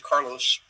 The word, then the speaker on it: Carlos: And then after that, our guy in South Africa, his name is Carlos, he pronounced it Carlo.